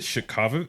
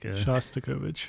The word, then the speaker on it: Shostakovich: Shostakovich. Shostakovich. You have to say it like Shostakovich. Yeah. I can't do it. Well, I mean, we're all pronouncing it fucking terribly because it's Russian, but yeah.